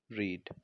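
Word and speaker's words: read: Book will Rakesh have रीड। रेड आएगा यहाँ पे, रीड, रेड, रेड, तो रेड स्पेलिंग सेम रहेगी लेकिन हम प्रोनाउंस क्या करेंगे, रेड, बिकॉज वर्ब की थर्ड फॉर्म का यूज हम कर रहे हैं।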